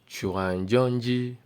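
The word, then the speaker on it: 传真机: Fax machine is pronounced as chuanjonji.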